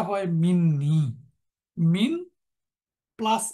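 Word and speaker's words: مني: ইয়া টাকে প্রটেক্ট করে এবং যার জন্য তার উচ্চারণটা হয় মিন্নি মিন প্লাস ই ছিল উচ্চারণের স্বার্থে এখানে একটা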